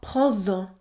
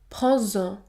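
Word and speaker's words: prends-en: Z vas-y ou encore prends en prends en le S se prononce Z Z prendsen 7e cas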